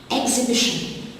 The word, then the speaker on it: exhibition: Exhibition, the silent letter is the H after the X.